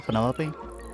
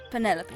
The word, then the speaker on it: Penelope: Delight Penny pointer pleasure is that short for Penelope officially yes but I never can be bothered with all four syllables of it Penelope sounds a little ostentatious